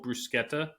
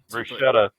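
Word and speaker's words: bruschetta: Next, some fresh mozzarella, tomato, and basil brusqueta. Always always good. Brusetta. Brusqueta. That's how it's pronounced.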